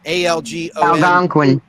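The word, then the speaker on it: Algonquian: on the windigo legend of the I can't pronounce this Danny ston Al gone quean peoples ALG Quin thank you I'm an idiot thank you uh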